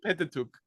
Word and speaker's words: Pentateuch: Do you pronounce that? Pentateuch, in English, Pentateuch.